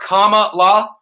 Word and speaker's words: Kamala: want to mention that her name is comma like the punctuation mark comma law kamala knows so we